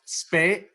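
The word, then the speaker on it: Spee: The curve of spay is level spay.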